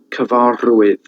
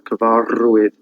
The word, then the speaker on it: cyfarwydd: They've got like a trilled R, and that's like gor, that sound. Gorchover, Cyfarwydd, which is a storyteller. Cyfarwydd.